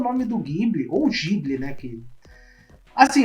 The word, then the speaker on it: Ghibli: E muita gente por aí também chama de Ghibli. Então, assim, é um apego emocional que eu não consigo desvencilhar, né? Mas eu sei que o nome se pronuncia Ghibli.